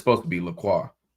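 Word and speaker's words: LaCroix: It's like people call the water Lacroy. It's the true pronunciation based on the French spelling supposed to be Laqua.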